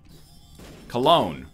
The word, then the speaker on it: Cologne: Cologne. Rhymes with alone.